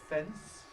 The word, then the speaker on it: fence: But it's absolutely crucial which movement happens first of the soft pallet or the tongue tip in order to get the older pronunciation fence. What must happen first? The first must be the tongue tip. It must release its contact and you get a moment of nasalized s fence.